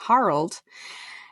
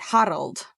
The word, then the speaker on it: Harald: quote, well, the audiobook narrator pronounced it Harald. That's weird because it's spelled Harold. Well, yeah, but it's Norse, so you have to pronounce everything with a rolly R. Harald.